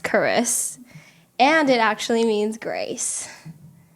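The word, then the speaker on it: Charise: end so now it's CH AR ISE but pronounced Curris and it actually means grace pretty dope dope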